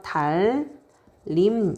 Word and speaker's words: 달님: 그래서 칼날 이렇게 되죠 달님도 마찬가지예요 앞에 있는 유음 이요 뒤에 있는 음하고 만나면 비음이 유음처럼 변합니다 그래서 달림 이렇게 된다는 거야 자 앞에 있는 유음의